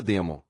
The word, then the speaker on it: daimon: A palavra daimon é latina, portanto deve ser pronunciada demon.